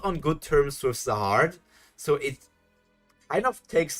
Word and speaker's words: Zahard: But Zahard, like you mostly say it, is a more correct pronunciation. Okay. Zahard, yeah.